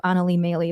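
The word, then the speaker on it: Anneli Maley: bad because i just butchered her name and mispronounced it horribly but i'll make it up to anali maylie by saying her name correctly kamaya smalls as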